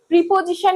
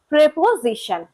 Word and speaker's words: preposition: By the way, preposition কিন্তু হবে না, সঠিক pronunciation preposition.